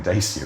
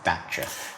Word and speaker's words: Dacia: they were pronouncing it Dacia. Yeah, that's one of those things, it's very hard to know, because Dacia is how they say it in Romania, so that is the correct way of saying it.